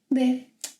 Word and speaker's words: de: Porque você está longe de mim. Por que você está longe de mim? I listed here a few prepositions in Portuguese. Let's take a look at them. De, that you can also pronounce de.